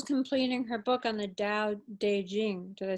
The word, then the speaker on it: Dao De Jing: Yeah, yeah and Nicole's completing her book on the Dao De Jing.